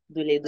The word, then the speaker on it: Doledo: Il a aussi sa propre compagnie qui offre des services financiers qui s'appelle Doledo. Je prononce bien, Doledo.